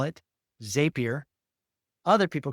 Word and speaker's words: Zapier: And so I saw the blog from Zapier, and it's Zapier, like happier.